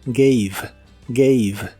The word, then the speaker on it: gave: en inglés y que la letra e del final de las palabras casi siempre es muda el verbo dar en el pasado de inglés se pronuncia gave gave el verbo gave en